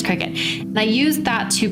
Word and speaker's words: Cricut: how you say it I want to say circuit but I think it's Cricut and I used that